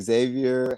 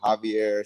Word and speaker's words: Xavier: get all the time like I said Xavier Javier Shier it's it's all fine with me or just call me